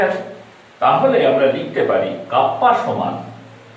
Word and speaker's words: kappa: 1 by rho কে বলে কাপ্পা into A by L. Now C সমান হচ্ছে conductance equal to 1 by R, আর এটার উচ্চারণ হচ্ছে কাপ্পা, KAPPA, কাপ্পা।